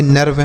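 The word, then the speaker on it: nerve: एन ई आर वी ई इसे हम पढ़ेंगे नर्व। क्या पढ़ेंगे? नर्व। तो बच्चों अगर इ के बाद अर रहे तो इस इ का जो उच्चारण होगा वह किसके रूप में होगा?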